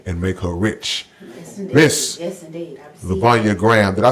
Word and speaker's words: Lluvonia: Miss Lluvonia Graham.